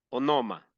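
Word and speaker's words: ὄνομα: la transliteración O sea de cómo se tiene que leer se lee así o noma ooma esta la definición de esta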